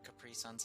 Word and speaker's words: Capri Sun: I have some Capri Suns and orange slices.